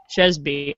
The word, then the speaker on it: Sheasby: Sheasby. I've been pronouncing it wrong.